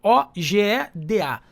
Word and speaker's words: Ojeda: E Ojeda com J, né? Ogeda.